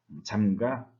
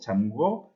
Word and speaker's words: 잠가: 그렇기 때문에 를 탈락시켜서 담가, 잠가, 치러 이렇게 말을 해야 합니다. 뒤에 담궈, 잠궈, 치루어 이렇게 했으면은 잘못된 것입니다.